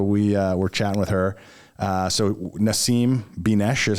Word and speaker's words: Nasim Binesh: So Nasim Binesh is how you pronounce it.